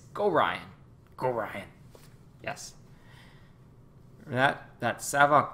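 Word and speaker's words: Gorion: Go Ryan? Go Ryan? Like Ryan with go before Ryan. Oh, see? There we go. So it's not Gorian, it's Go Ryan.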